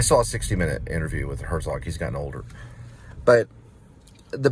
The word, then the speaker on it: Herzog: This was a story that propelled Herzog, that's how you say his name, it propelled him into the spotlight of fame.